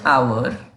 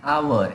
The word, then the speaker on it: hour: exceptions a see an hour and honest because the first letter is silent here and it is pronounced as wobble for example an hour edges silent an honest